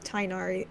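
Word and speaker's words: Tighnari: um Tick's name every all the voice actors with when they were told to pronounce it tinari all of them were like shouldn't it be pronounced chnar but no the The Voice directors and hoyo themselves said actually we want them to pronounce it like this so that's why they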